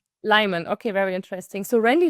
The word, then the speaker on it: Lyman: Pronounced Lyman. Lyman.